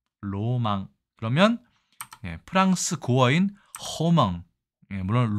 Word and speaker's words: 浪漫: 있도록 한자를 골랐겠지만 자 일본에서는 이게 낭만을 낭만이라 읽지 않고요 의외로 로망이라고 읽습니다 로망 그러면 프랑스 고어인 허망